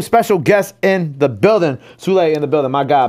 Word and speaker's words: Sule: Like, teachers, you call me Saul, Sully, or whatever. They be like, oh, Sule, oh, it's not that difficult to pronounce.